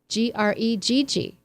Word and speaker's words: Gregg: Greg with 2 G's sounds like an A. Yes, that's right. And Greg with 1 G sounds how? With an E sound.